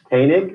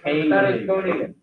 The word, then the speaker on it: Koenig: Koenig. Yeah. Hard G at the Koenig. Koenig.